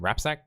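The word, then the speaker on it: Rapczak: and jesse rapzak and that's a rj uh pronounced name rapsack you guys you guys on the on the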